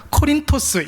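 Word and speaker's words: Κόρινθος: 그리고 자기네 나라, 그러니까 그리스 말로는 코린토스 이렇게 발음을 합니다.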